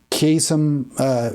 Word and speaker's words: Qasem: Qasem is how it's pronounced, I believe, Soleimani.